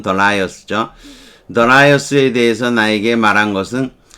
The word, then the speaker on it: Darius: 제리가 telling me, 나에게 Darius, 우리가 다리우스라고 그러는데 영어 발음은 Darius죠.